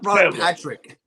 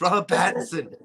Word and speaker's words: Robert Pattinson: trip you mispronounced everyone it's not brian patrick it's robert pattinson dude i saw that